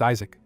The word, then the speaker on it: Isaac: He remembers that Isaac can also be pronounced Isaac, closer to his true name Yishak.